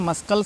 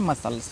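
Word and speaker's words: muscles: मस्कल पढ़ते हैं मस्कल इसको मस्कल नहीं पना इसको पढ़ना है मसल्स फिर सीजर्स एस सी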